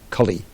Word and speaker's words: Kali: Short A, short I. Kali, the person.